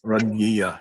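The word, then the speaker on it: راضية: My pronunciation is Radiya. Yeah, it's that pharyngalized D that's really hard for us to say.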